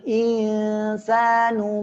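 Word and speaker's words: الْإِنْسَانُ: berarti ya pengucapannya adalah tipis. Waqalal insanu ma laha. Ya, semuanya tipis.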